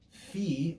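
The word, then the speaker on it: φ: Next we have phi or phi. More perfectly, it would be P. P. It'd be like P, which doesn't have any breath, but with breath added.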